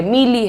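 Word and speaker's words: melee: what is the pronunciation मे ले मे ले मे पहला मैं इज़ लाइट सो मे ले मेले राइट दैट्स अ मेले नाउ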